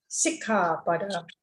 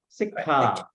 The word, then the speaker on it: Sikkhapada: Musavada Veramani Sikkhapada Samadhiyami. You pronounce H sound very well. It's interesting. Sikkha.